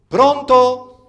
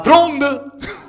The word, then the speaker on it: pronto: Alors, toujours dans la prononciation, les T sont des D. Attention, hein, on ne dira pas pronto, non, on dira pronde, d'accord?